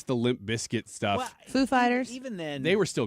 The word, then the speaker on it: Foo Fighters: Christopher Walken to mispronounce Foo Fighters at Saturday Night Live. He's like, the emphasis is on the second word. He said Christopher Walken comes out there. He's like, and now Foo Fighters.